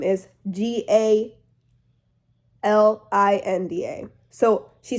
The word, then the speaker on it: Galinda: Because the goat used to say her name Glinda, Glinda, but her real name is Galinda.